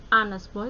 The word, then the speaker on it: honest: Itu karena honestnya itu membacanya seperti huruf AE huruf vokal, maka depannya an ya. An honest boy, bukan a honest boy, tetapi an honest boy, seorang anak laki-laki yang jujur.